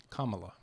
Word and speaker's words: Kamala: She says, just use the, grammatically speaking, the punctuation, comma, and then add la. Kamala. And so that helps me, because I'll be honest, I was saying Kamala.